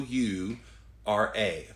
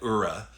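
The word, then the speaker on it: Oura: love your spirit good job how do you spell that sleep ring you're talking about era o u r a o u r a i think their website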